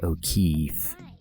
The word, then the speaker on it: O'Keeffe: For those of you who don't know, Georgia O'Keeffe is an artist who painted flower vaginas, and yeah, I just thought it was funny because her name rhymes with beef, and she also painted